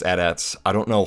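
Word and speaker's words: AT-ATs: of the adats and yes they are pronounced adats I don't know how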